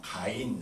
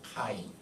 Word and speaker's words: 카인: 나다나엘이라, 나다나엘로 이렇게 번역이 되어 있습니다만은 헬라어 성경이 우리말로 번역할 때 예를 들면 가인 할 때 본래 그 가보다도 카가 맞습니다. 키역자가 맞습니다. 카인.